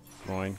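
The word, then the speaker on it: Glóin: Gloin, Gloin, Groin. I'll trust the Englishman on that one. Says Stokes. Gloin. Says it rhymes with groin.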